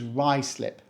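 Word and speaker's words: Ruislip: Reading let's go south this one is Ry slip Ry slip we don't say ruy slip or Russ slip just think of Rye like in the bread and slip like what happens when you go on ice and we put them together to say Ry slip rice lip is home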